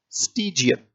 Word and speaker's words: stygian: इसका उच्चारण है स्टीजियन, स्टीजियन, STYGIAN। उच्चारण भी लिखा, उसकी स्पेलिंग भी आपके सामने है, स्टीजियन।